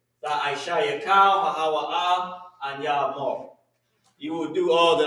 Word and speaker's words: amar: I was about to put amar. Amar means say. And how you say it is A-H-M-A-R. Amar.